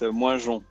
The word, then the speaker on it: Moingeon: And yeah, I know my name is very difficult to pronounce, so it's Moingeon. But even Moingeon.